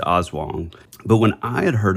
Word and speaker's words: Aswang: always heard of it called like awang which is probably just an Americanized you know mispronunciation mispronunciation yeah so I think it is awong but when I had